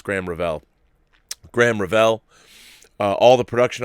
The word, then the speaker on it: Graham Revell: film inial more familial score by graham Revell pronounced graham Revell okay it's graham Revell Graham Revell all the production on that movie